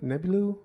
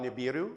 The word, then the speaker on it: Nibiru: Um, also I'm probably not going to pronounce it right, but um, Nebu, Nebulu, it's a you're talking about Nibiru.